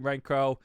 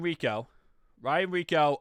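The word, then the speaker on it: Rehkow: So looking at our special teams, obviously Ryan Renfro, absolute a monster. Or is it Rico? See, everyone tells me how to say his name correctly. Ryan Rico, absolute monster.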